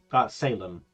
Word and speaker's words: Salem: How do you pronounce it? Salem.